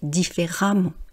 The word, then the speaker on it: différemment: Vous avez peut-être remarqué le son, donc on va voir ça sur l'autre page, la prononciation. Vous voyez, j'ai pas dit précédemment ou différemment, j'ai dit précédemment et différemment. Et pourtant, on ne voit pas de lettre A.